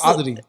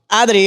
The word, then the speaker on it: Adri: kind of white though exactly okay so it's adri adri yeah okay all right can you say it